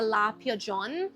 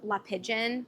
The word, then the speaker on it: La Pigeon: I also got the La Pigeon. It's spelled La Pigeon, but they told me I have to get fancy with it, so La Pigeon.